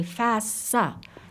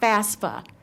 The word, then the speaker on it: FAFSA: And at the same token, he taught me how to say FAFSA. It's not FAFSA. We've been saying it wrong, but I thought that was important here.